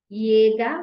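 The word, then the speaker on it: Jäger: it is yacht and just like its name suggests it is pronounced as yeah the way you would pronounce letter Y okay in a word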